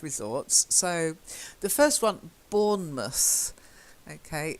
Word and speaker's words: Bournemouth: so the first one Bournemouth okay we don't say mouse we tend to say must Bournemouth Exmouth okay try it wanna